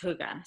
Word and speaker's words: hygge: It's a Danish word, and I promise it's pronounced hygge.